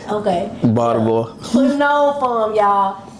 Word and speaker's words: Baltimore: Baltimore.